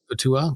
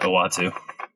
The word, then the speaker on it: Uatu: I say Utua. I never could pronounce the big cosmology. I think that's correct, but I don't. Yeah. Watches the universe from what's that, Josh? I think you were right in the first shot, Uatu.